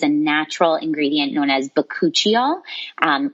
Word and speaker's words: bakuchiol: natural ingredient known as bakuchiol um which I'll spell but it's ba a k u c h i o l so bakuchiol um just because it doesn't necessarily sound how it's spelled um and so with